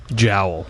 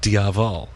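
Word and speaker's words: diabhal: you pronounce it again well actually if you're pronouncing it in Irish it would be Jael jowel right okay like that thing on your uh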